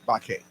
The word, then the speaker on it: Baquet: Bakke.